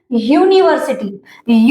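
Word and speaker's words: university: तो जैसे कि मैंने आपको बताया कि जो फर्स्ट लेटर होता है ना ये इसके उच्चारण इसका जो साउंड आता है जो ध्वनि होती है उससे इसमें क्या यूनिवर्सिटी नहीं है। ये इसको हम क्या प्रोनाउंस करते हैं? यूनिवर्सिटी यू यानी यूनिवर्सिटी।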